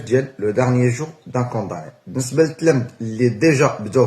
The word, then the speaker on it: condamné: اون بروميير طون ما كنطقوهاش كوندامني، كنطقوها كونداني، لو ديرنيي جور دان كونداني.